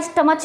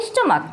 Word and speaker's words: stomach: जैसे हमारा स्टमक, STOMACH, स्टमक, स्टमक बोलते हैं हमारा पेट, तो क्या स्टमच बोलते हैं? नहीं बोलते ना, इसका प्रोनाउंसिएशन हमारा क्या होता है? स्टमक।